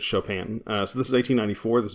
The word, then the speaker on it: Chopin: story of an hour it's pronounced Chopin by the way it's it's French but yeah you don't want to just say Chopin basically it's Chopin so this is 1894